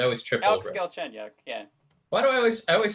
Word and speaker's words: Galchenyuk: And Matt, help me with that pronunciation because I always trip Alex over it. Galchenyuk, yeah.